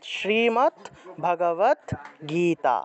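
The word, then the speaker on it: শ্রীমদ্ভগবদ্গীতা: আলাদা হয়ে যাবে তাহলে হসন্ত যুক্ত দ টাকে ততরূপে উচ্চারণ করতে হয় তাহলে ভগবত ভগবত ভগবত ভগবত শ্রীমত ভগবত গীতা শ্রীমত ভগবত গীতা এভাবে উচ্চারণ করতে হবে শ্রীমদ ভগবত গীতার পূর্ণরূপ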